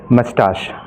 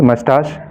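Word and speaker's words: moustache: ठीक है, ये मूंछ है, मूंछ को हम कहेंगे मस्टाश। क्या कहेंगे? मस्टाश। और दूसरी जो प्रोनाउंसिएशन इसकी है उसको हम कहेंगे मस्टैश भी कह सकते हैं।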